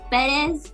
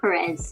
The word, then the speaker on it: Perez: So it's Perez, but a lot of people would just say Perez, so Perez.